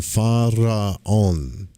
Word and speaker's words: Pharaon: The syllable last, on, O-N, corresponds to the Hindu mantra Om, but is here pronounced as on. This mantra, Pharaon, can be vocalized with the mind, or better yet, with the heart.